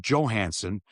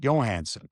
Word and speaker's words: Johansson: it's Albert Johansson and not Johansson.